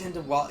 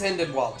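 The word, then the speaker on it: Hynden Walch: I was pronouncing it Hinden Walsh for the longest time. I think it's Hinden Wallach.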